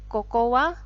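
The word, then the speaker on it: ここ: ya Ini bacanya adalah kokowa toshizou Dash yah Koko wa hai those assets Tolong perhatikan dua huruf di depan Koko itu bacanya pendek ya Sekali lagi untuk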